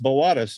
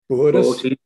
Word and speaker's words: Boötes: That B-O-O-T-A-E-S is pronounced Boötes at the top, isn't it? Is Boötes or? Boötes. I just say Boötes. Yeah. Yeah, forget the umlaut. Just pronounce both O's.